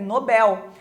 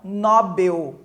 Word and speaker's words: Nobel: ã também a palavra Nobel né que seria a a pronúncia correta é Nobel e não Nobel né algumas pessoas falam